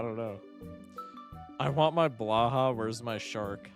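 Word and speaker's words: Blåhaj: Blow high? Is that really how you pronounce it? Blow high.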